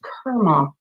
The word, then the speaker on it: karma: And you wanted to be a and mention karma to me, which is actually pron pronounced karma like Kermit the frog.